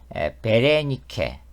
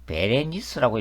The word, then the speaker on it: 베레니케: 그래서 어떻게 어떻게 해서 이집트 공주인 베레니케 또는 베레니스라고 이렇게 발음하기도 합니다이 베레니케와 정약결혼을 하게 됩니다